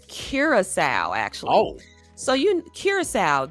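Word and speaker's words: Curaçao: It's Curasowl, actually.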